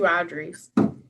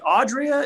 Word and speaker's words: Audrea: saying that there's two Audreys. Yes. Well, one of them is spelled Audrea. Yeah. I'm like, Audria? Is it Audrea or Audria? And they're like, it's Audrey. It's like, just oh, Audrey.